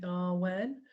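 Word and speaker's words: Awen: me in singing the Arwen. And for those of you who perhaps haven't done this before, it's toned rather than sung. And it is in 3 syllables in R, U, N.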